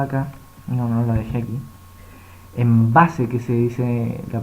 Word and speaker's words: Embase: Embase, que se dice la pronunciación en español, que usted tiene que pagar para poder hacer utilización de esta base de datos.